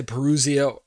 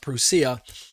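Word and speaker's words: παρουσία: The coming of the Lord, when I say the parousia, some people say parousia or something like that, but I believe the Greek is pronounced parousia.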